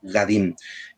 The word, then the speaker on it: Gadin: La desgracia sucede a una familia de franceses, que acá en Paraguay llamamos Gadin, que en francés el apellido se pronuncia Gabin, pero más conocidos como Gadin.